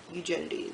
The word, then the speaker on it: Eugenides: audiobook of the marriage plot and they said eugenity so I'm like okay I guess it's hugee